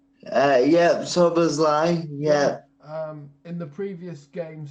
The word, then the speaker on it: Szoboszlai: Dominic Szoboszlai, is that how you pronounce his name? Yeah, Szoboszlai, yeah.